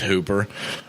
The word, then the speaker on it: Hooper: tight end for the Falcons Austin Hoppa that's how I like to say his name its Hooper he's a tight end